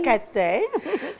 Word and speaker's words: Kataï: Moi, seulement vous l'avez prononcé en français. Oui. Kataï. Kataï.